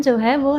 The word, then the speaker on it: ह्रीम: इसका उच्चारण ह्रीम है।